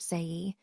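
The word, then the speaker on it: sei: Next we have say pronounced say.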